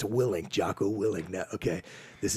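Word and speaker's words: Willink: like, okay, I hear this guy it's actually pronounced Willing, Jocko Willing.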